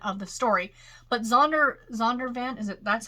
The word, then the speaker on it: Zondervan: the faith element of the story but zonder zondervan is that's how it's pronounced the publisher that's what they do they